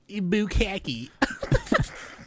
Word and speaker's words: Bukkake: Just getting bukkakied. I like saying it wrong like that. Bukkake.